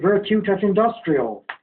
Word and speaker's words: Virtute et Industria: Because we natives do pronounce it Virtute et Industrial.